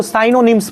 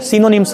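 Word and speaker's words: synonyms: सिनोनिम्स बहुत सारे लोग इसको साइनोनिम्स पढ़ता है, साइनोनिम्स नहीं होता है, सिनोनिम्स होता है। Pronunciation, correct pronunciation of this word is सिनोनिम्स नॉट साइनोनिम्स।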